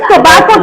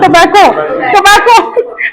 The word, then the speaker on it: tobacco: Tobacco, no, it's tobacco, tobacco. Pronounce it tobacco.